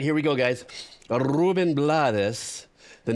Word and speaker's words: Blades: Pronounce Blades just in case he thought I was going to get it wrong.